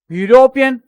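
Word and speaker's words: European: university के आगे आपके हमेशा ए लगेगा सेकंड यूरोपियन इसके अंदर ई साइलेंट रहता है ई को नहीं बोला जाता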